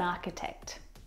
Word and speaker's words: architect: The CH in all of these words is pronounced like a K sound. My brother is an architect.